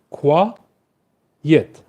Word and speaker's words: quiet: Uh this word has two syllables. Qua yet.